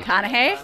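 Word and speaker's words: McConaughey: Matthew McConna. Thank you. Crime here for you. Matthew McConna.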